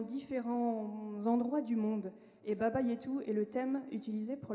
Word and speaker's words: Baba Yetu: Donc il y a plein d'ambiances différentes dans tous les styles, notamment le dernier que tu as très bien prononcé, Mathieu, Baba Yetu, qui est un thème qui est tiré d'un jeu vidéo qui s'appelle Civilisation, pour ceux qui connaissent.